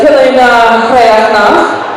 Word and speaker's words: Coille Neo-Chríochnach: So Calder and Tempest have decided to lead the group farther south in the Coille Neo-Chríochnach, I said it right this time, which means